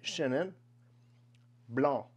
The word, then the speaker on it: Chenin Blanc: but in France generally if the word doesn't end in an e you do not pronounce the next consonant weird I know but that's how you do it so this would be Shannon Blanc the word for white